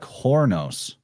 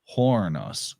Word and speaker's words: Chronos: way they pronounce it it sounds like Hornos Hornos Chronos like it's very close to just saying horn and Horn is a